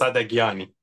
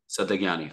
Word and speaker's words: Sadaghiani: How do I pronounce it? Sadaghiani. Sadaghiani.